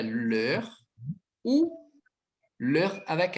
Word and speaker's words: leurs: O adjetivo possessivo dele, então, é leur ou leur avec S. Não falhe o S, é a mesma pronúncia.